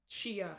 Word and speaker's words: Shia: It's Shia. I say 2 Shia. syllables. You just said Shay.